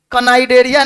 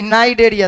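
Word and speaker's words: Cnidaria: और वहां पे कनाइडेरिया नहीं, नाइडेरिया, सी साइलेंट हो जाता है, इसी को नाइडेरिया कहते हैं, सिलिंटेरेटा को।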